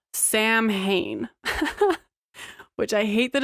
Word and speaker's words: Samhain: the ancient Celtic Festival of sa okay which is spelled Sam Hayne which I hate that it spelled Sam